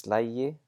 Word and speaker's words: slægi: So taka becomes tæki, fara becomes færi, slá becomes slægi, and we're actually going to look at these different forms to see how they work. Ég slægi, and notice that the G is pronounced like a J.